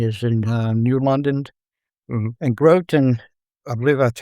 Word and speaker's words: Groton: And Groton, I believe that's how you pronounce it, is right across the little bay there with a control tower.